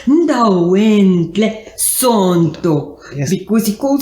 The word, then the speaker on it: Ndalwentle: Siphesihle Ndalwentle Sonto.